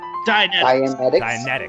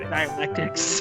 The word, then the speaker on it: Dianetics: Dianetics, right. What did I say? Dialectics.